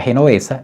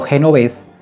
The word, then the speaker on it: Genovés: Los nombres que has mencionado son bien conocidos por nosotros, pero los has pronunciado mal. El primero se llama Adamski, el segundo Genovés y el tercero Michalek.